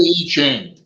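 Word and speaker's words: I Ching: advise on our current situation okay that that's pronounced I love the E chain it's a Lester Crowley level amen it was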